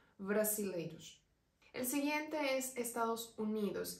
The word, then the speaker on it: brasileiros: personas de Brasil serían brasileiros aquí ya la z o la s no están pronunciada siempre se suena es más suave brasileros el siguiente es Estados